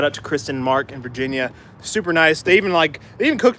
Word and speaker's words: Virginia: How you say it, in Virginia. What? No R at the end.